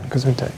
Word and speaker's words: Gesundheit: Gesundheit. It's fine. Generally mispronounced German, but yeah.